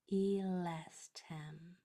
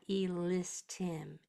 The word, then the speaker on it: elestem: Okay, make sure that these S are pronounced with your mouth in the right shape. Elestem. With a nice big eh. Don't let it get into I. It's not elistim.